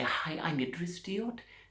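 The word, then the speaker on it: Deot: Or it's Diot. It's D-O really because it's French. You see, D-E-O-T, and it's French, and you don't pronounce the T at the end.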